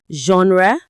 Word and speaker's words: genre: exams are based on, we pronounce it with that strong J sound at the beginning.